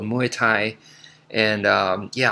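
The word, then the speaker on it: Muay Thai: muai and um yeah I I hear a lot of people call it mutai and uh it's muai is is I I believe it's closer to the actual pronunciation if I'm not mistaken um so anyway so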